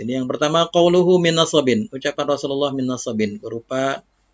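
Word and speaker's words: نصب: nasabin berupa nasab bi fathin nun, nunnya di fathah, na, wal muhmalah, muhmalah artinya sad, as-sad al-muhmalah, karena kalau ad-dad al-mu'jamah artinya ada titiknya, al-muhmalah tidak ada titiknya, dan sadnya juga di fathah, jadi bacanya nasab, min nasab.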